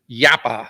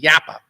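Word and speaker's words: Jappa: company from Finland and the name is yappa it's spelled j a paa you think it's from Japan but it's from Finland yappa it was the third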